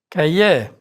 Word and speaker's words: cahier: R is not pronounced in words ending in IER, like Cahier.